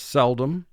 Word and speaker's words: seldom: the word cell dom again we exaggerate the pronunciation of this word slightly to conform to spelling spoken vocabulary for this word is seldom but for a spelling vocabulary cell dom and this illustrates what